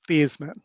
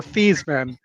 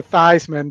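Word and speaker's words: Theismann: but he was Joe Thesman until he decides and he for a marketing reason changed the pronunciation of his name to Thyman because it sounded like Heisman.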